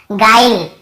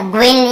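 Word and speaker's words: guile: देखिए इसे हम पढ़ रहे हैं गाइल, है ना, ग्विल या ग्विले ऐसे नहीं पढ़ रहे हैं, ई को भी लास्ट में नहीं पढ़ते हैं, केवल गाइल ऐसे पढ़ रहे हैं, गाइल।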